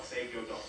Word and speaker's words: Seigyo-do: Now, this is where the title of my art is called Seigyo-do.